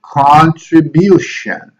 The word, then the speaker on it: contribution: So we have to do contribution. Bution is where we place the most important stress. Contribution. Okay.